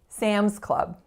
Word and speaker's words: Sam's Club: two words but still pay attention to which of those two words gets more stress Sam's Club it's the first right now let's talk about the vowel on that first syllable Sams Sams this is that nasalized F sound so again you're not